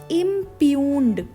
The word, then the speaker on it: impugned: देखिए spelling IMPUGNED, ठीक है, पर इसको बोलना क्या है? इम्प्यून्ड। इम्प्यून्ड प्रोनाउंसिएशन इसकी थोड़ी सी डिफरेंट है, जैसा ये लिखा हुआ है वैसी नहीं है, ठीक है।